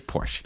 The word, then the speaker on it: Porsche: but it's their company we should try to say it right Porsche I'm trying I'm not no it's Porsche all right here is